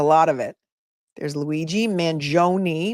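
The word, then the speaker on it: Mangione: of it there's Luigi Manon which I have learned as the correct pronunciation three syllables Manon how do I know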